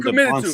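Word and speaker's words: Dybantsa: You just call him DeBonsta. To it. Is it DeBonsta? DeBonsta. Is that right? That doesn't feel right to me. DeBonsta with an S?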